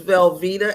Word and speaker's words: Velvetta: My name is Velvetta, and yes, it's pronounced like the cheese, last name.